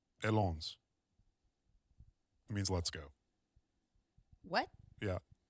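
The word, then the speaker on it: Allons: Uh And I'm going to It shows me how to pronounce them. Okay. Alon Alons? What does that mean? Alons, a l l o n s. Alons.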